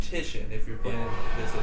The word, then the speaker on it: Titian: The name is pronounced Titian if you're playing this at home.